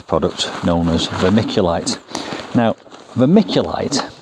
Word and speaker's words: vermiculite: known as vermiculite now vermiculite sounds like the word vermicelli which comes from the Latin for worms and when I open this